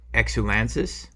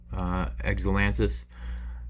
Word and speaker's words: Exulansis: It's pronounced Exulansis. Exulansis.